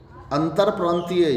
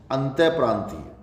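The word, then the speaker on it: अंतःप्रांतीय: अंतर प्रांतीय। अंतर प्रांतीय नहीं, अंतः प्रांतीय।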